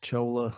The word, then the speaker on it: Chola: demeaning to you in any way, but it's pronounced Chola and so I was I was told it's C-H-O-L-A, so sorry.